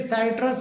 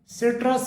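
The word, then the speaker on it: citrus: इसी प्रकार से सी आई टी आर यू एस इसे साइट्रस बोल दिया जाता है। जबकि इसका सही प्रोनंसिएशन सिट्रस होता है।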